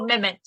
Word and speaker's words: Mehmet: It's the hero, Mehmet, and how would you pronounce it just right for me, Berna? His Mehmet. name? Mehmet. It's more Mehmet.